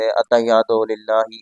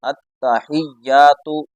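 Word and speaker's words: التحيات: بھی توجہ نہیں دیتے، اتحیات للہ اس طریقے سے پڑھ دیتے ہیں، تو صحیح طریقے سے پوری توجہ کے ساتھ اور پورے تلفظ کے ساتھ ہم نے اس کو پڑھنا ہے، التحیات، یہاں تا کے اوپر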